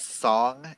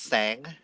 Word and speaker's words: Sang: the love interest name they pronounce it as song in the book in the audiobook but it's actually pronounced sang so just just just